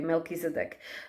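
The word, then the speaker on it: Melchizedek: by Light Mission uncovered don't give up okay pronounce MC okay melkis EDC who name means king of righteousness is the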